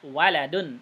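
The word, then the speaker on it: ولد: Alif atau tidak Halo setelah Wow ada Arif Dadi bacanya walidun artinya ayah tapi kalau enggak ada liftnya waladun artinya anak itu ya Oh ya Iya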